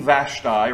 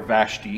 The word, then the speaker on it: Vashti: one we see uh queen vashtai or vashti however you want to pronounce it uh this is king